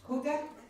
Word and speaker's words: hygge: Huga? It's spelled Y-H-Y-G.